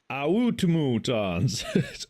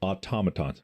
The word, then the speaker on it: automatons: Some go like automatons, automutons. It's automatons.